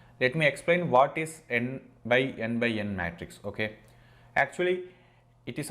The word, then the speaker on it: NxNxN: x n cube or n x n x n puzzle okay it depends on the people's but the official pronunciation is n by n by n it is not x it is uh into